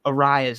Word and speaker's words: Arias: I always say Arias, but it's Arias.